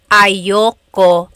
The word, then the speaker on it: ayoko: Usually it's pronounced ayoko siya. So if you want to sound a little bit more natural, you put everything together, ayoko siya. Ayaw ko siya is ayoko siya.